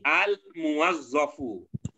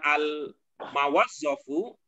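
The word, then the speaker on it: الموظف: Jadi al-muwazzafu. Dan memang itulah yang betul. Dan memang itulah yang betul. Al-muwazzafu bukan al-mawazzafu atau bukan al-mawuzzafu dan sebagainya.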